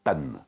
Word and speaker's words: Pun: Je m'appelle Monsieur Pan. Ça s'écrit P-U-N et ça signifie calembour en anglais.